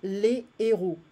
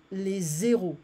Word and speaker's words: héros: So here we don't pronounce, we don't have anything, we say les héros. So it's like the heroes. But if I have an liaison, it's going to sound like les zéros, the zeros.